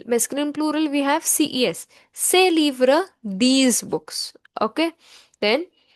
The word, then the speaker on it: ces: CES is pronounced as say.